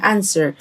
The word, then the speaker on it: answer: حتى لاحظ ان حرف الو مش هننطقه silent، يبقى يجيب يعني answer.